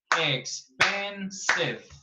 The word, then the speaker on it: expensive: Expensive. Ah, ¿esa E sí suena, teacher? Sí, porque esa sí es una E, no es una S.